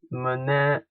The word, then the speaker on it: mnemonics: mnemonics, the initial M is silent, are clue of any